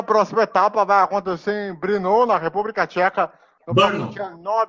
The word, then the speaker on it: Brno: Lembrando que a próxima etapa vai acontecer em Brno, na República Tcheca, no próximo dia 9 de agosto. Né? Exato. Em Brno. Em Brno? Brno, na verdade, né? Que se fala. Né? Se escreve Brno, mas é Brno.